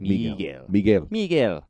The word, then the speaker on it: Miguel: Miguel.